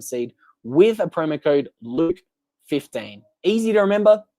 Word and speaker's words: Luke: with a promo code Luke 15 easy to remember my name rhymes with puke that's Luke 15 so